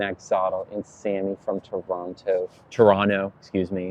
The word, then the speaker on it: Toronto: and Sammy from Toronto Toronto excuse me it's not there's no T pronounced hello Tiffany hello Dre